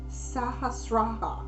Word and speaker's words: sahasrara: they're referring to here and i'm going to pronounce it again it is called the sahasrara which is s-a-h-a-s-r-a-r-a okay one of the aims